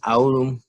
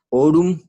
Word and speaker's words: aurum: En el diptongo AU en el español se pronuncia O. Un ejemplo de esto sería la palabra aurum, pero la pronunciación sería orum y en el español significaría oro.